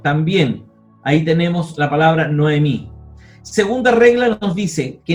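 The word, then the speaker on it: נָעֳמִי: Cuando un kametz precede a un hatef kametz, el kametz se transforma en kametz katán, es decir, en O. Y aquí tenemos el ejemplo. Tesohorayim, mediodía. Noemí, ¿cierto?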